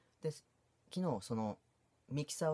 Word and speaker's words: Mixer: なんですけど mix er とか言ってミキサーと読むみたいなんです